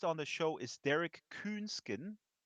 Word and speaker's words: Künsken: Our guest on the show is Derek Künsken. English speaking folks probably pronounce it Künsken, but I'm German and he's of German heritage, so I pronounce him with the umlaut.